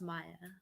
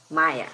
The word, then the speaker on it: Maya: i just want to make sure maya or how are we pronouncing your name correctly because i heard it different ways now i'm like wait am i saying it wrong um my name is maya maya okay got it thank you um the other